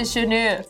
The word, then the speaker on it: Djornor: Thank you, Janu. That's it. Got there in the end. Thank you. Did you just about Danu?